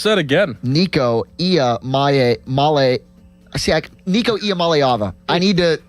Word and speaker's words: Iamaleava: Pronounce that again. Nico Iamaleava.